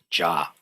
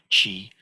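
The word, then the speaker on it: 慈: This in Sino-Korean, this is called Ja. In Mandarin, it's pronounced something like Chi.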